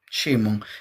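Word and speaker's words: שמעון: Y es una palabra hebrea que se pronuncia Shimon, que es oír.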